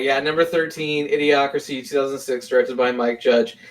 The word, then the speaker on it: Idiocracy: Idiocracy. Wow, you say that weird. It's Idiocracy.